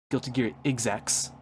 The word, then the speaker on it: Guilty Gear XX: Guilty Gear XX Accent Core Pl actually the technical the supposed pronunciation is supposed to be Guilty Gear Exx, but I will not be saying that.